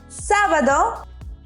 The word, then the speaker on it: sábado: Sábado. We also have an accent there, so emphasize the A.